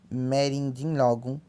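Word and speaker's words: mẹ́rìndínlógún: Logo, 16 pronuncia-se merindinlogum.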